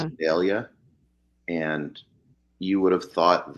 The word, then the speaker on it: Vidalia: I called Vidalia, but it's not. It's Vidalia.